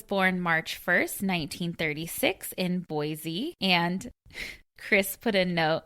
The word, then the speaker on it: Boise: Then it goes on to say, Al was born March 1st, 1936 in Boise, and Chris put a note, Boise is pronounced Boise.